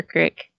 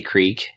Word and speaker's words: creek: Do you say creek or crick? I say creek because that's how it's spelled.